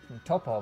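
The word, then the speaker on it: Toppo: They pronounced it Topo, but they translated it as Top.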